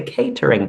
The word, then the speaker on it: catering: Spanish speakers who are not sure how to pronounce this word it's always like hey yeah the catering company great observation there and it's so confusing